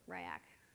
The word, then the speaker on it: Riak: one is powered by riak or ryak depending on how you say it and this was a